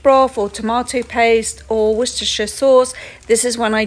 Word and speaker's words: Worcestershire: is worcestershire sauce time and yes it is pronounced worcestershire adding in the beef broth okay this is